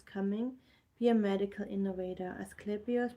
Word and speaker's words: Asclepius: Asclepius pronounced Asclepius was the greatest healer of the ancient world.